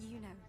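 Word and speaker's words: Iuno: That's Yuno, the priestess of Septimont. She rarely leaves the temple and only shows up accompanying F4 Augusta. See, that's why I pronounce it as Yuno, because look, it's capital I.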